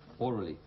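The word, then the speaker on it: aurally: Both are pronounced orally. There's no difference, but the meaning is very different. The right. This one is orally, connected with the hearing.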